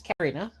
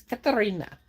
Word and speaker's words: Katarina: Um, cuz people think it's Karina, but actually it's not. It's Katarina. But a lot of people cannot roll their ars.